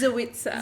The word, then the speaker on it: Zoitza: Yeah, I always pronounce it wrong. I do apologize. You're not the only one. Everyone does. Zoiitsa.